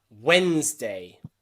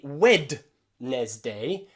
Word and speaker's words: Wednesday: okay monday tuesday wednesday we don't say wed nesday we say wednesday wednesday there's a few silent letters in there when's day wednesday no d no d sound wednesday okay also in family